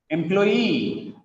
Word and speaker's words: employee: Look at here, it is not question, it is question, question, questionnaire, questionnaire, employee, employee, guarantee. The stress is on last syllable here, guarantee, kangaroo, kangaroo, bamboo, engineer, engineer, Japanese, Japanese, picturesque, picturesque, cigarette, balloon, balloon.